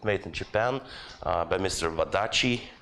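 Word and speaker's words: Wadati: Wadachi. That's how you pronounce the TI.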